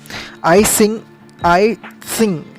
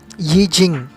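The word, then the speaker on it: Yijing: आई सिंग TSING जो था actually, अगर ये इंग्लिश टाइप प्रोनाउंसिएशन है, पर अगर चाइनीज़ टाइप प्रोनाउंसिएशन में इट इज़ YIJNG, यी जिंग.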